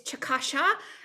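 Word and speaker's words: Chikashsha: my example my tribe it's chakasha and chata right if we're using our indigenous words but it's chickasaw and choctaw for using the english words that were been labeled on us because i couldn't pronounce our words um so if we're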